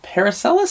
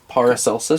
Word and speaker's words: Paracelsus: Yeah. Paracelsus. Because it's like Celsius. Paracelsus? Paracelsus. Paracelsus? It's an S. Celsius. Paracelsus. Okay, yeah. I think para instead of para. Paracelsus.